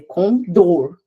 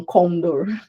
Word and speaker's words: condor: É condor, não condor. Tá bom?